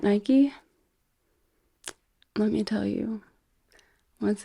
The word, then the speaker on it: Nike: So I recently found out that in other parts of the world, they pronounce these Nike, not Nike.